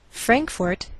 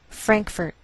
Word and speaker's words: Frankfort: Frankfort, Kentucky. Now some Americans may change the second syllable of the capital, and you may hear Frankfurt.